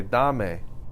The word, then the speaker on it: dame: You say dame, right? Dame. Do I need the accent mark on that A? No. I don't. But what if I say damelo?